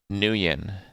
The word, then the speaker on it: Nguyen: Nguyen. Right? Nguyen? Pronounced Win. Master Win.